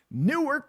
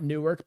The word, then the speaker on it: Newark: It's not Newark, but you know, that's how you shout out to all my Jersey people. Where you at? Yeah, Ange 1977 knows exactly what I'm talking about. That's a one-syllable word.